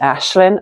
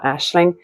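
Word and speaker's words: Aisling: think it's pron Ed Ashlin or Ashling it's spelled a i s l i n g and it's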